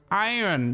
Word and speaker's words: iron: have a word like iron with clearly an R and you're like, "No, no, no. It's actually pronounced iron. You don't pronounce the R in our fourletter word."